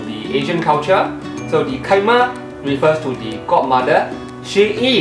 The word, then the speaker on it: chi: So to help you to remember that C-H-I in this case is pronounced as Chi, I have coined a word, C-H-I-M-A. It's read as Kaima, Kaima, Kaima.